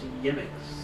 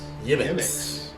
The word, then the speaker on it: Ix: damn your eyes sorry it says it's pronounced yix yix feel like a breakfast cereal yix get your yix how like the marshmallows